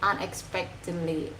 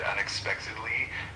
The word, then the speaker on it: unexpectedly: Uh the word unexpectedly is pronounced like unexpectedly. Uh the emphasis is on the spec part.